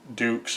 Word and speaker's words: Dux: Uh he said, "You're Frank Ducks." He goes, "No, no, no. It's pronounced Dukes." And he goes, "Oh, like put up your Dukes, right?"